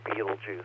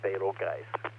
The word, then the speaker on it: Betelgeuse: slide number 15 please most of you pronounce it beetlejuice i pronounce it betelgeuse alpha orionis the name